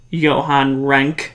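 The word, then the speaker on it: Johan Renck: his name is you i think it's pronounced johann rank or rank diddle his resume he did a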